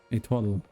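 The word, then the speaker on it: étoile: And I say Itoli because I just see the way it's spelled and think of how I would say it the best I can. I know it's wrong.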